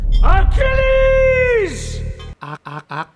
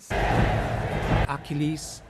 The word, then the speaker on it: Achilleus: because the pronunciation is Achilles! Achilles. Achilleus, but it's pronounced Achilles, whatever the spelling.